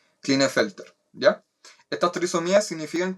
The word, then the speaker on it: Klinefelter: síndrome de kleine en el first air se pronuncia klinefelter ya está utilizo mías significan que tienen tenemos